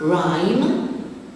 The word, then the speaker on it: rhyme: Rhyme, the silent letter is the H after the R.